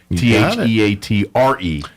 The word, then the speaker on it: theatre: Theater spelled like live theater. Theatre. Not like the way I spell it, the eater. That's how I remember how to spell.